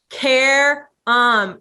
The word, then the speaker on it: Qerim: always do with him the phonetic care um care um he's like oh you just want to act like you're caring no that's actually how you pronounce it right that no you